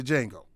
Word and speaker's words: Django: calvin kenny himself stephen from django or jingle whatever you want to call the d is silent here's the chairman of